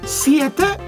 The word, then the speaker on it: siete: 7 is siete.